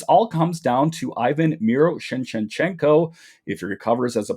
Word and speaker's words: Miroshnichenko: This all comes down to Ivan Miroshnichenko.